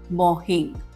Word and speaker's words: Morjim: ये बीच है मॉर्जिम बीच के नाम से लोग अक्सर कहते हैं, लेकिन इसका सही प्रोनाउंसिएशन मॉर्जी है, एम साइलेंट है, या फिर मोहिंग।